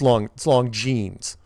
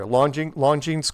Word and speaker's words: Longines: But it's Longines. It's like, okay, so that's fine.